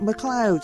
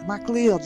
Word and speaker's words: MacLeod: give up, and it's pronounced MacLeod, not MacLeod, you stupid son.